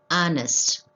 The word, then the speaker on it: honest: vowel sound ah honest though the word begins with h the word is pronounced as honest h is silent here so we are using